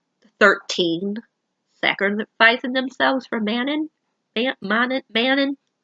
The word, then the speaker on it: Manon: Another good part, even though it was sad, was the 13 sacrificing themselves for Manon. Manon. How do you say? I always say her name wrong. I don't know why. Manon.